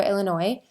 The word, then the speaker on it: Illinois: I realized that and I think I'm saying it right because I know there's an S at the end, but Illinois, I think it's Illinois.